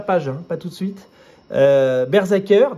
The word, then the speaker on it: BRZRKR: pas tout de suite bershacker donc ça se prononce Berzerker tome 1 il y